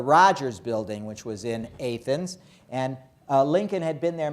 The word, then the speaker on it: Athens: I don't want you to make fools of yourself by mispronouncing the word A-T-H-E-N-S as Athens. Because then everybody in Illinois will laugh at you, because everybody knows that it's Athens, Illinois.